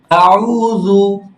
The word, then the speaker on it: أعوذ: হ্যাঁ এখন আসেন স্যার আউযু গোল করে বলেন মুখটা গোল হবে শেষের আউযু উচ্চারণ গোল হয় আউযু আউযু হ্যাঁ আউযু